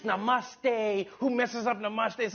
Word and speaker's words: namaste: Namaste, Chiwala, Gujarat, Sardar Patel, Ashram, Sachin Tendulkar, Gujarat, Goa, Diwali, as the great religious teacher Swami Vivekanand once said.